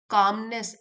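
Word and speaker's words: calmness: कामनेस L silent है।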